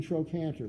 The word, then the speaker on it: trochanter: hae and in latin the CH to stand for a K sound as in trochanter for instance TR o